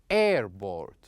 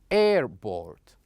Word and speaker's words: airport: For example, here in this word, as you can see, we going to stress air, not port. For example, we would say airport, airport.